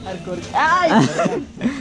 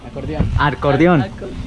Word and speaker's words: acordeón: ¿Cómo se pronuncia? Arcordión. ¿A cómo? Acordeón.